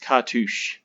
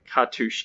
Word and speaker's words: cartouche: looked up and it turns out it is pronounced cartouche so cartouche is how you say this word so double